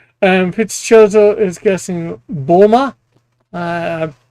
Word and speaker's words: Bulma: Um, Fitz Choso is guessing Bulma. Uh, I pronounced that wrong.